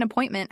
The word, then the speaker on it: appointment: I'd like to make an appointment has stress pattern. I'd like to make an appointment. In connected speech, I'd like to often sounds like I'd like to. The T in appointment is clearly pronounced.